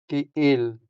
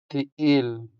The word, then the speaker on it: ka-il: in Hiligaynon, we say ka-il ka-il ka-il The stress falls on the second syllable, making the second e longer than the first e.